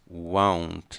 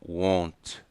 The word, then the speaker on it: won't: Don't, didn't, won't, won't. Não é com O, won't, é won't. Nós damos uma volta na pronúncia, como se fosse um A e um U.